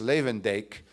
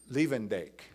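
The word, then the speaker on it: Luyendijk: the united states now i hope there are no dutch speakers here because i'm not going to pronounce the author's last name properly but is jorus lavendaic who wrote leavendake okay thank you thank you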